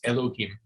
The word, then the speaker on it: Elohim: Earth uh in in Hebrew the word is Elohim e-l-o-h-i-m Elohim means god it's actually a plural